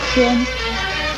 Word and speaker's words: 籤: 天字的国语注音是天，天一声天，天一声天。